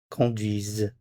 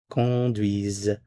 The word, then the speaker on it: conduisent: Conduisent. Conduisent. c o n d u i s e n t. Conduisent. z Notice the sound here. This is conduisent. Conduisons. Notice the z sound.